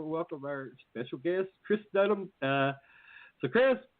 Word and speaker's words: Dedman: And the proper way to pronounce my last name, don't worry, everybody butchers it, is Dedman, like dead man walking.